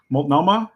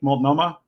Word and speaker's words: Multnomah: was arrested again for public and decency in multnomah county uh that's in that looks like it's nearby can you help us out with this one multnomah is how you pronounce the county multnomah that that's an organ it's not launching oh